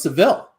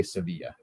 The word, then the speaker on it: Sevilla: to clarify is it is it pronounced sevilla i always thought it was seville well i think either works but i believe there they say sevilla but you know what